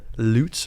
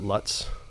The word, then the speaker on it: Lutz: Wild Baptist Church in loots Florida not Lutz not LS I said it wrong a few times when I first moved here and I'm joined by